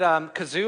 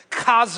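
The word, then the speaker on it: חָזוֹן: Some said kazoo, I think, right there. So here's how this is. It's pronounced zone. Zone. So you need to spit up a little bit when you say this. Kazone.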